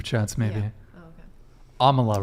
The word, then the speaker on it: Amala: Amala, right? Did I say it right this time? Yeah. Amala.